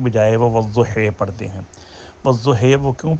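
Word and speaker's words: والضحى: سوال بنتے ہیں نا۔ تو اب اس کا درمیانہ تلفظ یہی بنتا ہے کہ ان کے نزدیک کہ یا کو الف اور یا کی درمیانی آواز میں پڑھو، اور وہ بنتی ہے ہا اور ہی کی درمیانی آواز والضحی۔ لیکن امام عاصم اس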